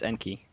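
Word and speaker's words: Enkei: Like, how do you pronounce that? It's like Enki, Enki. It's Enki.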